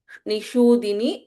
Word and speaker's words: निषूदिनी: Nishudini, Sha here is Shanmukha Sha, as the way we pronounce it, Shanmukha. Shanmukha word in the Sha, in the same way we pronounce the Shudini, Nishudini here.